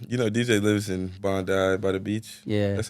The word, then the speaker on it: Bondi: DJ anden um you know DJ lives in Bondi by the beach yeah that's how you say it right Bondi uh Bond Bondi if you wish you go